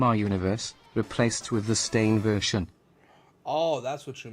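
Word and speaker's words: Berenstain: It's not Stein, it's Stain. It's the Baronstein Bears.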